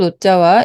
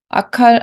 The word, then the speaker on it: 惡: 나오, 다섯 오자와 입구자로 이루어졌습니다. 악할 악, 미워할 오. 악하다라는 의미를 쓸 때는 악이라고 발음하고 미워하다, 혐오하다, 싫어하다라는 의미로 쓸 때는 음이 오가 됩니다.